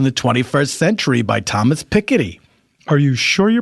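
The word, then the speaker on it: Piketty: would you say it I'd say petti like a little child says petti to be cute do you think they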